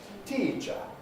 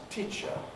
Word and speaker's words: teacher: And this might lead you to think that it ought to be pronounced teacher. I'm a teacher. Making it nice and long. And, you know, if you were a speaker of Finnish or indeed Japanese, that's a very reasonable mistake to make. But in real life English, it's pronounced teacher.